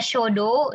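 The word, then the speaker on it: 書道: Nah, kemudian ada shodo. Shodo itu nah ini menulis kaligrafi ya. Jadi menulis kaligrafi atau menulis indah itu shodo dalam bahasa Jepang ya. Show-nya pendek ya minasang.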